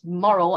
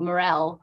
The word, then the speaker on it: Morrell: and actually writing down it's Morrell as in M-O-R-A-L and not Morrell with a score on the, with the underline on the L.